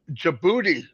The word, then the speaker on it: Djibouti: We have Djibouti coming, and we have Turkey you said it right. coming. Yeah, I always want to say the D, but Yeah, Robin told me, I do know.